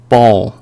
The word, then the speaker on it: ball: LL 이렇게 L 앞에 A가 발음되는 거는 다르게 발음을 해주세요. O와 I의 중간으로 발음해 주시면 됩니다. ball, ball, ball.